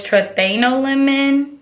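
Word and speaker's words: triethanolamine: What I'm getting, how you pronounce this chemical is trethanolamine.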